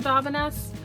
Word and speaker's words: Davines: If you've never heard of Davines, look it up. I think it's actually pronounced Davines, but I just think Davines sounds fancier, so I end up saying it all the time.